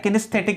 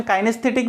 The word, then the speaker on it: kinesthetic: Movement, एक होता है किनेस्थेटिक इमेजरी, ठीक है ना। अब इसका प्रोनाउंसिएशन काइनेस्थेटिक भी इमेजरी है, लेकिन जो फर्स्ट जो है प्रायोरिटी पर है किनेस, KINESTHETIC, किनेस्थेटिक इमेजरी।